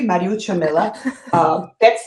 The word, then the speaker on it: Mariuccia Milla: Well, as you pronounce my name perfectly, Mariuccia Milla.